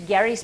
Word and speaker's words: Gerry: So Elbridge Gerry, he was Gerry, not Jerry. Somewhere along the line, the pronunciation changed. But Elbridge Gerry was the governor of Massachusetts in 1810.